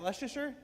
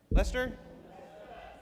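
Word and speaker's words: Leicester: Is that Leasher? Lester. Lester.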